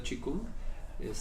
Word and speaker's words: qigong: Que bueno, ese es un poco otro tema, la pronunciación correcta en chino vendría siendo Qigong, aunque lo escribimos Qigong con Q, ¿no? Q-I G-O-N-G.